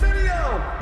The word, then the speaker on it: Mineo: Say it with me, it's Mineo.